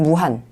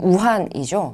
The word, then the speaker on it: 우한: 조선오용대는 1938년 10월 11일 중국 무한 중국 발음으로는 우한이죠 우한에서 결성이 됐습니다 지금 전